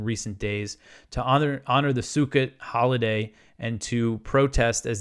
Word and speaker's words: Sukkot: I always pronounce it wrong. It's Sukkot.